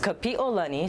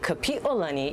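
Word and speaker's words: Kapiʻolani: her name is pronounced kapiolani so there's a break between the i and the o and when you say correctly kapiolani it means the arch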